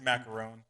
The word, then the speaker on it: Maccarone: it's like- It's macaron. But I like I thought you were going to macaroni. get like a macaroni.